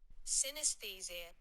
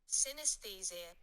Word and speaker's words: Synesthesia: Now, it's a bit of a hard one to pronounce, so I had our Google, do it for me. Ready? Here we go. Synesthesia. Synesthesia.